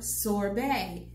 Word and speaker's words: sorbet: i would ask for sorbet again s o r b e t the t is silent now they would not